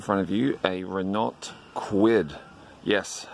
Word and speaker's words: Kwid: of you a Renault kwid yes I quit that rhymes with squid and you may be